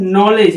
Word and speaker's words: knowledge: KNOWLEDGE, यहाँ पे नॉलेज है, ये क्या है, ये नॉलेज है, के साइलेंट है, एन के पहले आया और डी साइलेंट है क्योंकि जी ई के पहले है, इन दोनों को पढ़ने पर नॉलेज क्या हो गया, इस वर्ड को पढ़ा जाएगा नॉलेज।